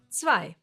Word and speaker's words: zwei: E and I together get pronounced as I, like in sky, for example. It's a German diphthong, and no, it has nothing to do with a small piece of underwear. It's two or more letters that always get pronounced the same way when they are together, like here, I. Zwei.